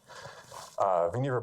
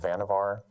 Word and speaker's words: Vannevar: about him is that his first name rhymes with achiever not Vannevar so now you'll know